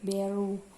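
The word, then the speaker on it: Beureueh: Kemudian DITII yang ketiga yaitu DITII Aceh, ini diketuai oleh seorang tengku yaitu Tengku Daud Beareu ya kalau secara gambarnya, tapi membacanya Beru.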